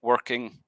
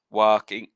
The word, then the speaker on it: working: beforehand so for like the word working you say ah so you you've more of an i instead of an er so it's the wrong vowel compound combined with the or letter not being pronounced makes those a little bit unclear so you're talking about working so you said i'm not 100 sure if it was exactly this but something like walking walk walking so without the r and the wrong vowel and then you're saying